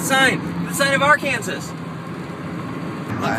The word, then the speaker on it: Arkansas: All right, so we finally made it to Arkansas, or should I say Arkansas, because that's how it's spelled, and I think words should be pronounced how they're spelled, so when I have to spell them, I spell them correctly.